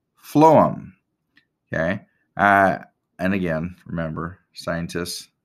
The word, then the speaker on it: phloem: is which just remember although it's spelled with a ph instead of an f but remember phloem starts with an f sound and food starts with